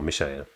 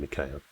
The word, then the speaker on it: Mikhail: Actually, from the way it's spelled in katakana here, it's probably more Mishael rather than Mikhail, but whatever.